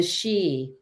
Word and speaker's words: Sidhe: But so what we're learning is that the Xi are known as the Shining Ones. And that word is spelled Sidhe.